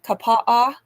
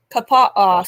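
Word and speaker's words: Kapaʻa: sounds like it's probably Kapaa Kapaa sounds like how Hawaii would Hawaiian would pronounce it because they have like to have lots of vowels so um acent on the first salable oh so anyway um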